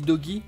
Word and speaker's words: Doge: Alors ça s'écrit Doge, mais moi je dis Doggy, hein, parce qu'il y a une gravure du ski dessus.